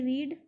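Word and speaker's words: read: और उसके बाद देखिए रीड, रीड, इसको हम बोल स्पेलिंग यही लिखते हैं सेकंड फॉर्म, लेकिन बोलते रेड है, ठीक है, रीड रेड रीड, ठीक है।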